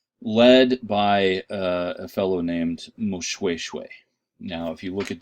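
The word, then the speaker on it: Moshoeshoe: going to pronounce this most shoe shoe the OE diphthong in Bantu languages is pronounced way like W a why a single oh is pronounced as a double Oh usually in Bantu languages southern african Bantu languages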